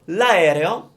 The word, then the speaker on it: aereo: So that's how you get good at pronouncing a difficult word. Benissimo. So l'aereo is the airplane, l'aereo.